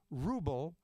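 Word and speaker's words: Wrubel: uh the people were Ali Ruble spelled is spelled w-r-u-b-e-l and with lyrics by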